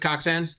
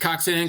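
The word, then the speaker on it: Koczan: Uh I take coxan. I don't really like pronunciation has varied forever. Uh even in my family I take coxan.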